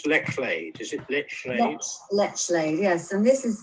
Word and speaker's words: Lechlade: how do you pronounce Lechlade? Is it Lechlade?